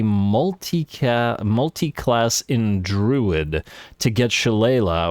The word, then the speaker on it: Shillelagh: in Druid to get Shillelagh, or is it pronounced Shillelagh? I think it's pronounced Shillelagh, but Shillelagh is the way it's spelled.